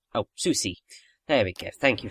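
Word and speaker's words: Soucie: or Susi I'm not quite sure how to pronounce her last name oh Susi there we go thank you for pronunciation guides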